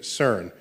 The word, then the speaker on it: CERN: So CERN is how you pronounce the word, which I think in French, that's the sequence of words, but in English, it's the European Center for Nuclear Research. You swap some letters back and forth and you get CERN.